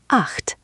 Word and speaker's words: acht: It's a sound that doesn't exist in English, so it takes practice. Imagine you're trying to say h, but with your tongue a little further back in your mouth. Not quite a k.